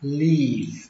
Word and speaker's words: leave: Âm y ở đây là âm y dài nhé các bạn, leave, và kết thúc bằng âm v, leave. Các bạn tránh trường hợp đọc âm y ngắn, đọc là leave thì nó sẽ ra từ khác.